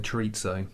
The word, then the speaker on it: chorizo: Any Well, not in the chorizo? UK. Chorizo? A bit, yeah. Oh, I love it. A bit of paella, and plenty of sangria. I didn't want to sound like a commoner by saying chorizo.